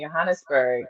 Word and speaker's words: Johannesburg: Policing Bodies, Law, Sex Work, and Desire in it's Johannesburg, correct? Yes, that's the Afrikaans pronunciation, Johannesburg.